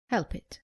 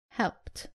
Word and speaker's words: helped: let's look at some examples common mistake saying help it it is helped saying walk it it is walked not cofed